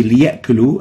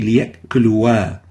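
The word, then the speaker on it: ليأكلوا: In here, the alif in the liya'kulu is not pronounced. So we say liya'kulu and we don't say liya'kuluwa.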